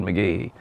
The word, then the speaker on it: McGehee: You're going to get run out of town if you start saying McGehee.